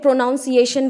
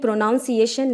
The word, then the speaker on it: pronunciation: हम उच्चारण कहते हैं कई बच्चे इसे इंग्लिश में प्रोनुंसिएशन बोलते हैं लेकिन यह प्रोनोअनसिएशन नहीं है इसकी सही जो उच्चारण वह क्या है प्रनंसीएशन नीचे देखिए पहले लिखा